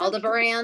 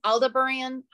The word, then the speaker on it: Aldebaran: I should know how to pronounce this one, but I don't. It's Aldebaran, okay. Aldebaran.